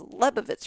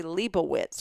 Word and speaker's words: Lebovitz: And this is coming from someone who, is a Lebovitz, and nobody pronounces Lebovitz right. They want to say Leibowitz, or they want to change it.